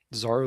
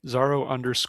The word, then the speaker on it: Zaro: Zoro loves robots. Sorry, I said your name wrong. Zaro loves robots says, "Which commentator is the biggest and roundest?"